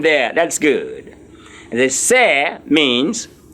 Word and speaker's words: c'est: C'est is spelled S apostrophe E-S-T. C'est is a pronunciation, and it means it's I-T apostrophe S.